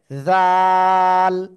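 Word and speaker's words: ذال: যে এই যে অক্ষরটা জিহ্বার আগা উপরে দুই দাঁতের আগায় লাগিয়ে নরম করে তিন আলিফ টেনে উচ্চারণ করতে হবে জাল জাল ঠিক আছে যখন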